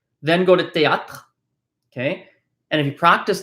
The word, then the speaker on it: théâtre: Remember, the E at the end of the word is silent. When we have E's at the end of the word, we don't pronounce them, right? So this is pronounced, a little bit closer.